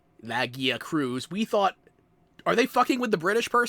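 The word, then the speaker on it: Lagiacrus: I need to know, okay, I need to know who in their scripting and their localization departments decide on the pronunciation. Who decided Lagia Cruz?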